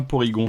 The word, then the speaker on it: Porygon: Et normalement ça doit se prononcer Polygon si je dis pas de conneries, parce que c'est Polygone tout simplement en japonais.